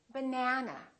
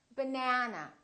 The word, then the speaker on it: banana: this second syllable is stressed that means this vowel is going to be much longer repeat banana banana so the a is going to be prolonged let's look at another